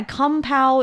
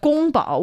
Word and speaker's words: 宫保: And that is why kung pao is not exactly the Chinese word. It's not a word. It's, again, a name, but it's the similar pronunciation of a name. It's not even the name. Oh, so wait, so that wasn't his name? Well, kung pao was not, but gong bao was. Oh, but it just got kind of changed. Yes. And then when it made its way west, then the pronunciation changed even more.